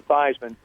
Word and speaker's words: Theismann: think that just simply changing the pronunciation of your last name from thasan to thyman to r with th